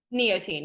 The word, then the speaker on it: Neotein: Neotein.